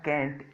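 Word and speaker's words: can't: कैन नॉट आता है कैंट, इसके प्रोनाउंसिएशन दो हैं, आप इसे कैंट भी बोल सकते हैं, आप इसे कांट भी बोल सकते हैं।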